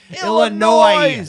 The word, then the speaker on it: Illinois: Chicago Illinois Illinois sorry Illinois s is silent you have to go